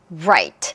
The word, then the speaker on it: right: 자, 첫 번째는 우리 방금 했던 light, right. 둘 차이의 발음기호를 보면은 일단 나머지는 다 똑같아요. 그런데 뭐만 달라요? 앞에 있는 L, 앞에 있는 R. 이 자음만 다릅니다.